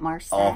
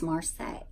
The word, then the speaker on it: Marseille: say American Texan that's that's right is it Marcel for MRSA MRSA MRSA is a I'd say Marseille Marseille thanks I know tomato do you think